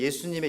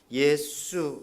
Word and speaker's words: 예수: 다음에 우리 영어로는 지져스 아 스페니쉬 로는 해수 해줄수 이렇게 부르지 않습니까 한국말로는 예수 가장 예술성이 어떤 시대의 예수님의 이름과 가장 비슷한 것이 한국 사람들이 부르는 이름입니다 예수 이렇게 좀 더 쎄게 부르면 그 발음이 거의 같죠 예수 그래서 한국분들이 예수님을